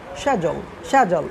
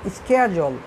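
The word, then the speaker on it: schedule: সো এটি কিন্তু আমেরিকায় যারা ব্রিটিশ তারা বলে শ্যাজল এরকমভাবে শ্যাজল, আর আমেরিকানরা বলে স্ক্যাজল।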